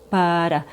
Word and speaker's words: butter: Peanut butter butter. So the t in butter is a fast D sound.